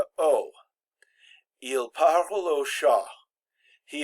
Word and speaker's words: au: mandatory contraction produce pronounced Oh now remember a U is always pronounced oh so we can get